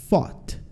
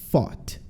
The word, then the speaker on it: fought: E esse O-U-G-H, todo ele junto, ele faz esse som de O, tá? Então, ó, fought, fought, lutei, fought.